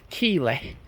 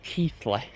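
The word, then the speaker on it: Keighley: They're like number eight, Keely. No, Keithley. We're in Keley for this one.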